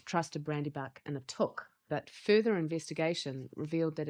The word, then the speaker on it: Took: What we discovered when we discovered that the proper pronunciation is took, I did a little